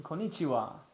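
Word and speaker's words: こんにちは: Hello is konnichiwa. Ah, that's an easy one. Konnichiwa. No, you put too much emphasis on nichiwa though. It's konnichiwa.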